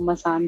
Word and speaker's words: मसान: बोलते में वो मसान जैसा साउंड करता है, स्पेलिंग भी मसान जैसी ही है।